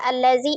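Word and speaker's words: الذي: Jadi tidak berubah dia langsung zal ditasdidkan atau lam disukunkan dikata allazi tetap di allazi ya. Alazi ya, alazina. Ya, jadi khusus dikata allazi alif lamnya alif lam lazimah gitu.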